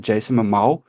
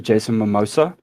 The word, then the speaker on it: Jason Momoa: Is it Jason Momoa? Is it Jason Mimosa? Is it Jason? I don't know. I think you got it right in the first time.